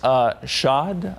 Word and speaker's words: chaud: Chaud, I'm going to go with that. I think that's correct. I think you have to say it like you've ordered something with Grey Poupon. Chaud.